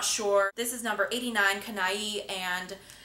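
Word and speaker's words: Canaille: permanent i'm not sure this is number 89 kanai and it's spelled c-a-n-a-i-l-l-e and it is the most beautiful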